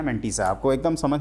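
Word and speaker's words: mantissa: और जो f है इसको कहते हैं f इज कॉल्ड मंटीसा, है ना, मोनालिसा नहीं, मंटीसा इसका नाम है, ध्यान रखिएगा, इधर उधर मत सोचना।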